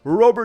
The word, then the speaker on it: Robert: That is how you say his name. He said it on the White Socks pronunciation page. It is not Robert. He's not even American. What are we doing calling him Robert?